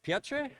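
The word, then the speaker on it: Piotr: the studio that uh it's pronounced piot so uh uh thank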